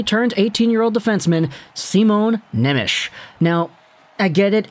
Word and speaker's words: Simon Nemec: 18 year old defenseman simone nemish now i get it it's spelt simon nemec but it's slovak so it's not the same in the way the pronunciation goes either way today we're